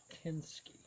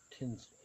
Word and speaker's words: Tinsky: This is a Mark Tinsky, not Tinsley.